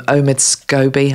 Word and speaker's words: Omid Scobie: that's been released by, I don't know how to pronounce this guy's name, Omid Scobie, I think is how you pronounce it.